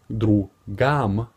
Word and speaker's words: другом: You would say другам. You would spell it out and write it другом.